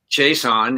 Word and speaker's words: Chaisson: i'm from louisiana and in louisiana chase on is as common as smith smith yeah so he